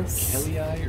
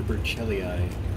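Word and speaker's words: burchellii: Berchelii or Berchelii? I don't know. I think in Latin, the CH is pronounced like a K.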